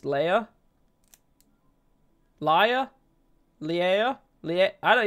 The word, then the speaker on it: Leia: Stop saying Leah, it's Leia.